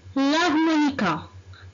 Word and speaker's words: l'harmonica: L'harmonica. L'harmonica. Qu'est-ce que vous remarquez? Très bien. On remarque. Ici, on ne prononce pas la lettre H.